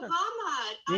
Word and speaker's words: Hamar: I come to Hamar, right? Did I pronounce it correctly? Finally. You're going to Hamad.